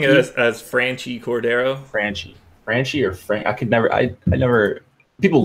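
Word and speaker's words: Franchy: Padres bats, I guess Hosmer, or is it, how do you pronounce the guy who's leading off for San Diego? I'm Frankie? Saying it as Franchi Cordero.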